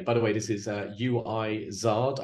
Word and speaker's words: Uizard: By the way, this is UIZard. I don't know how you're supposed to pronounce that. It's like wizard, but UIZARD.